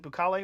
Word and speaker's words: Bukele: What do we say? Bukele. Bukele. Well, you just said it two different ways, so I'm not going to. I mispronounced the first time. Oh, okay, sure. I always say Bukele. Yeah. Don't listen to my second, not my first.